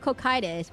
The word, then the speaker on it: Cocytus: the Ruler of Cocytus, which I learned is pronounced Cocytus. You do the Ruler of Cocytus, and then you do decline thing. Ruler of... Guys, you know how you actually pronounce... I know everyone is... It's cock. No. It's pronounced Cocytus. That's how... It's pronounced Cocytus. So everyone knows.